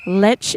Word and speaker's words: Lech: Lech is actually le le. Yeah, le you can see it in um asterises. Um it's pronounced le.